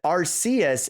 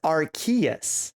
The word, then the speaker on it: Arceus: to see uh sam in chat says the pronunciation is up in the air because they said arceus in recent times but in the 3d pokedex it says archaeas all right so it's like we've been saying